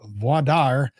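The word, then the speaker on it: voir dire: Finished the voadar. So that means Texas. So, because that's Texas, the only place that pronounces it like that.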